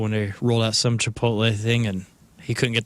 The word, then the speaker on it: Chipotle: doing it on purpose it's Chipotle right yeah inip chipot it's Chipotle or chipot god dude you're talking